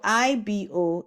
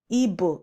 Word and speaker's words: Igbo: So IBO is wrong. Igbo is wrong. Igbo is right. B. It has to have the GB sound.